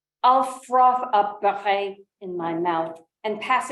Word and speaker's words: Barret: Hotel Ami, 16e Rue de General Barret. My thinning lips move in silence. The pronunciation of Barret, my phone says, is close to beurre, the creamy French word for butter. I'll froth up Barret in my mouth and